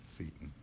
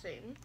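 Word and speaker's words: Seyton: It's S-E-Y-T-O-N. Seton. Not Satan. Well, it could, S-E-Y can sometimes be pronounced as an A sound.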